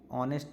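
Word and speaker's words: honest: जो एन है वो ऑनेस्ट यहां पे उच्चारण हो रहा है अ से इसलिए यहां पे एन का उपयोग होगा।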